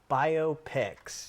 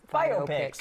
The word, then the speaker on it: biopics: Four separate featurelength biopics. He told I said it wrong earlier. Biopics, right? Biopics. Biography picture. All right, there we go.